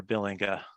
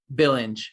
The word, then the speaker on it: Billinge: Is it Billinge or Billinga? Billinge, yeah. Okay, good. I've always thought it was Billinge. Just, you never want to say their name wrong.